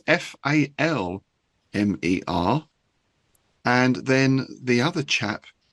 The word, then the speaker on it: Falmer: It, pronounced Falmer down here.